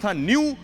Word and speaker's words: न्यू: मारे तिर्वा शब्द था एन यू जिसका उच्चारण न्यू तो न्यू वेरियन अकेला